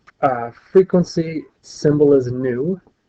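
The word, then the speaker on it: nu: uh frequency symbol is new it's pronounced just like the word NE W new and its frequen its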